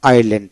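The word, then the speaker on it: island: আইসল্যান্ড যায় কি হবে আইল্যান্ড এখানে এ আইতে আই এল এ এনডি ল্যান্ড আইল্যান্ড এস এর উচ্চারণ হবে না তারপর হল আই লিট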